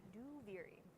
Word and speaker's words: Duviri: Duviri out loud is that's how you pronounce it, by the way. Duviri.